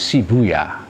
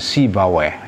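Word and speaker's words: سيبويه: sibaweh atau Ilham Shibuya bisa dibaca Shibuya atau sibaweh kalau orang Iran dulu baca bacanya Shibuya tapi orang Arab membacanya sibaweh ya Ah karena sih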